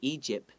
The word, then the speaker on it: Egypt: Another thing I want to note is the word Egypt might be hard for some people to pronounce because there's a P and a T next to each other.